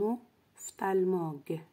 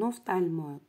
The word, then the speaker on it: ophtalmologue: Le médecin qui soigne les yeux s'appelle un ophtalmologue. Un ophtalmologue. Ici, PH se prononce F.